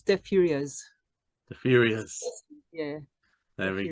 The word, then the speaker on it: Deux Furieuses: You don't pronounce the last S. It's Deux Furieuses.